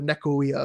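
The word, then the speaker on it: nekyia: One of them is I talk at length about this idea of the nekia, which is a term for the nekoia, if you want to use the Greek pronunciation.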